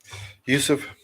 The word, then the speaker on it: Yusuff: Yusuff. Yes, Sadiq Yusuff.